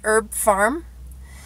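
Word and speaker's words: Herb Pharm: by the company called herb farm and farm is spelled pH AR M so like pharmacy I reach my destination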